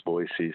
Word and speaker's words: Boise: They throw a Z in there. It's not Boise, it's Boise.